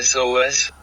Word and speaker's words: SOS: how do you pronounce sos says of course see you did it again it's an acronym you say each letter means save our ship